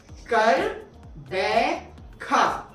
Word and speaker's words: Gqeberha: तो कर, बै और खा। अब एक बार फिर आप सब के लिए स्लो मोशन में हम बोलते हैं, कर, बैखा।